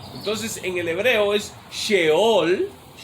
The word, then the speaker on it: Sheol: Entonces, en el hebreo es Sheol, así como se pronuncia SH, Sheol, y se traduce al español Seol para ese lugar.